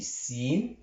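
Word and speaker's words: سين: On pose notre langue sur les dents, on dit sin, mais sad, on pose notre langue en haut de la mâchoire supérieure.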